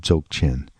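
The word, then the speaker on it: Dzogchen: that would be central to the idea of joke in by the way that's spelled d z o g CH e and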